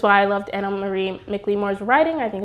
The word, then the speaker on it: McLemore: I've been saying Micklemore, but I think it's like McLemore.